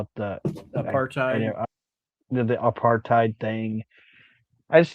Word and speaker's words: apartheid: Yeah, apartheid.